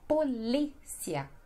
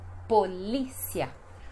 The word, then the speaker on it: polícia: Depois nós temos polícia, que em espanhol seria policia, mas no português é polícia. Então a sílaba mais forte é no li, polícia.